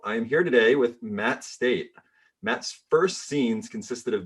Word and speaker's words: Stait: Yeah, Stait. Yeah, straight. Say it as it's spelled.